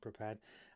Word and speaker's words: Prepar3D: So this video is about Prepared. It is written Prepar3D, but it's pronounced Prepared.